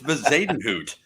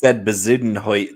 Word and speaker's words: Bezuidenhout: It's Bezadenhout. Yeah, you said Bezudenhout or something the second time.